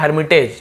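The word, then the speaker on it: hermitage: हर मिटेक कहते हैं तो इसका उच्चारण क्या है हर मितेज ठीक है गैदर्ड गैदर्ड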